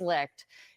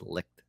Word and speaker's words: Licht: chairman and CEO Chris lick is leaving oh wow I've been saying his name wrong L licked I think I was better staying off as lit it's Chris licked okay well corrected live on air the network licked